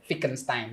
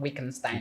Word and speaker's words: Wittgenstein: you are spelling it, German, they pronounce W as V. So Okay. that word is Joanne Wittgenstein, not Wittgenstein, if you want to Wittgenstein, pronounce okay.